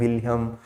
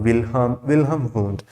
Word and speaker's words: Wilhelm Wundt: person is known as wilhelm wundt okay your h is silent or you can pronounce like anything william or wilhelm who is father of